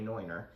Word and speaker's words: Neuner: It's a Neuner Hornsteiner is how it's said in Germany, Neuner.